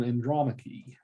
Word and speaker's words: Andromache: So you pronounce his wife's name Andromache. That's how you pronounce her name.